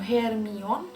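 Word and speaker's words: Hermione: se resume em francês o nome dela é pronunciado como ermion um táxi escrito da mesma forma que english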